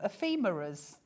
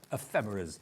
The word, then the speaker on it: ephemeras: super super sweet ephemeras what were they just calling them a femurras sounds like the doctor would fix it is a tricky word to pronounce I must admit ephemeras okay now this is